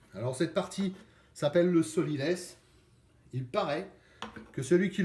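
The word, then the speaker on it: sot-l'y-laisse: cette partie s'appelle le sot l'y laisse il paraît que celui qui le laisse et un saut un sens écrit comme ça se prononce sow est sauté l apostrophe y plus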